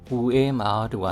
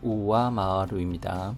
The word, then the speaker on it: 上回る: 우에 마하루가 아니라 우와 마하루입니다. 발음에 주의해 주십시오.